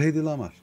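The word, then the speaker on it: Hedy Lamarr: öyle mi yoksa A bu HY lamar bu hedy lamar doğru doğru lamar bu Tamam tamam buy lamar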